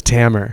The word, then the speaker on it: Tamer: podcast to tell you that my name is tammer camera is it actually pronounced hammer oh my god i'm so sorry